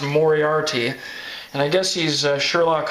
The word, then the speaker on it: Moriarty: So then this is a new book, and I guess it's pronounced Moriarty, and I guess he's Sherlock Holmes' nemesis.